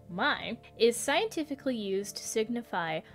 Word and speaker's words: My: the lowercase letter mai from the greek alphabet pronounced mai is scientifically used to signify a micro unit